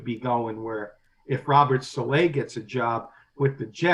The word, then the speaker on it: Saleh: Saleh. That's what I thought. I'm hearing a lot of people call him Salah, and I thought it was Saleh.